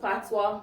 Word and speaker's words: patois: our jamaican language and it is pronounced patois p-a-t-w-a though it is spelled p-a-t-o-i young man will love